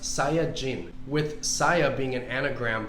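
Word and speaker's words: サイヤ人: that's based on vegetables in japanese saiyan is pronounced saya jin with saya being an anagram for yasai which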